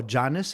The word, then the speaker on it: Janes: a little later uh erica janes or janus it's j-a-n-e-s it's jane's if you pronounce it like a like a gringo like me uh andreas wake